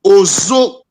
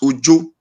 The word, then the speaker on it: Ozo: Ozo is the Benin word. Ozo. So people not taking Ozo as Ojo.